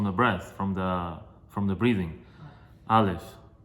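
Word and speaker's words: א: Aleph, very soft, very easy to say.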